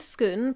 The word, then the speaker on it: Scone: There are three popular pronunciations: Scone, Scone, and Scone. I'm going with Scone, partly because that's what I've always called it,